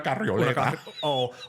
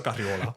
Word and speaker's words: carriola: We used to call scooters in my house una carrioleta. We didn't add that extra syllable. It was just a carriola.